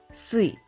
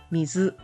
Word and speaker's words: 水: Moving on to Wednesday, there are two Japanese pronunciations, which is sui and mizu.